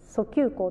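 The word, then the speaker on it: 遡及効: すけど、この字ね、訴求項と読みます。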